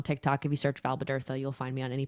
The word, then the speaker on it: Bodurtha: My last name is pronounced Bodurtha. Bodurtha. It's Welsh.